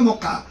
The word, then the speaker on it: Mocha: Extremely severe cyclonic storm, ये था मोचा, MOCHA, pronunciate करेंगे तो मोका।